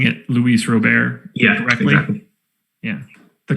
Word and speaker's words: Luis Robert: a prospect do you mean like saying it luis robert yeah directly yeah the correct way to say